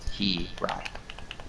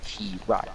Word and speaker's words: Hirai: But I corrected myself. It's Hirai. I'm going to pound that into my head. That way I remember Hirai is the name.